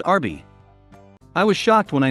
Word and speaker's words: Arby's: Roast beef abbreviated is RB, which is pronounced Arby.